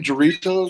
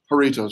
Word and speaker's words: Doritos: Dorito? Is that what it is? Doritos. Yeah, I knew I pronounced it wrong.